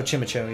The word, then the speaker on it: Chimecho: nice gastrodon what how would you even pronounce that checkmaker oh chimacho yeah that's what i say yeah cara bless you can see chimecho reverse very nice oh that's all right